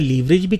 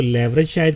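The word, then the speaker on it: leverage: लीवरेज को 2 तरह से प्रोनाउंस किया जाता है, लीवरेज भी कहते हैं और लेवरेज भी कहते हैं। बहरहाल मैंने एक जगह पे डिक्शनरी में पढ़ा था कि अमेरिकन तरीक़ाकार में उसको लेवरेज शायद कहते हैं और ब्रिटिश में उसको लीवरेज कहते हैं।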